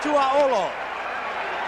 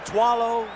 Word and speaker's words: Tuaolo: here in Green Bay the veterans have a little bit of a difficult time with the pronunciation of his Samoan name some of them call him twow some of them call him T some of them call him ET you keep making sacks like that young man they're going to get that pronunciation just right now it's second down